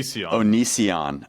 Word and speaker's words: Onision: is the O onion is that how you pronounce it onion Onision Onision so what what why did you want